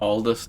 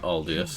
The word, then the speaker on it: Aldis: Aldis Aldis, not Aldiest.